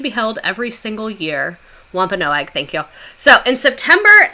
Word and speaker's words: Wampanoag: I'm gonna butcher it um but no egg Wampanoag the Wampanoag shared an Autumn Harvest Feast that